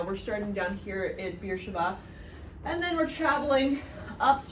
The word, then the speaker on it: Beersheba: Your Bibles will probably spell it Beersheba, all in one word, but most of the maps call it Beersheva, two separate words. Welcome to Hebrew transliteration. B's and B's are often interchangeable.